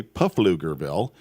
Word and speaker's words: Pflugerville: of Texas it's a Pflugerville is spelled with a p it is if you want to do it phonetically puffle lugar ville and blue grill is very proud of that p there it's can you give